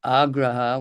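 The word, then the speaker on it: āgraha: Agraha with a long a in the beginning and then agraha.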